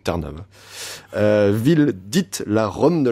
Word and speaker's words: Trnava: J'ai vérifié la prononciation sur Wikipédia, c'est Trnava.